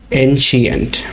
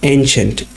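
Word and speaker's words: ancient: এনশিয়েন্ট, এই শব্দটা আমরা অনেকেই উচ্চারণে ভুল করে থাকি, আমরা অনেকে বলি এনশিয়েন্ট, বাট এটা আসল প্রনাউন্সিয়েশন হবে এনশিয়েন্ট।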